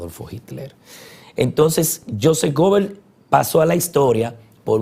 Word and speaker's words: Goebbels: Hay otra frase que la voy a decir textualmente, que es autoría que es similar a esta, de Joseph Goebbels, o Goebbels, pronunciado en inglés.